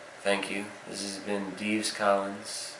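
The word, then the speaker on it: Dives: thanks this has been Dees Collins for anyone who's interested my name is spelled D i VES and I don't think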